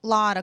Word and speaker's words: Lotter: It's like Lotter. I'm like one short of the lottery, which is just like in real life.